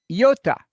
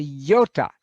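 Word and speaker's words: ιῶτα: your mathematics don't you yota that's an e sound and it's a yota the smallest letter like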